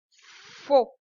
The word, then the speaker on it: faux: F, attention à U, ça fait O. F, AU, ça fait O. Faux. Fait.